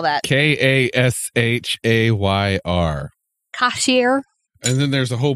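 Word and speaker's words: Kashayr: cashier I like that one how do you spell that k-a-s-h-a-y-r cashier and then there's a whole bunch of stuff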